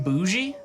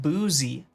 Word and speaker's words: bougie: It's a ZH. When I say it, of course it's going to sound like boozy.